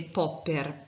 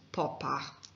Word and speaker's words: Popper: spesso parlare di re popper perché diciamo non è così semplice pronunciare in in tedesco però sappiate che la pronuncia corretta e carne raimund poppa iniziamo a conoscere un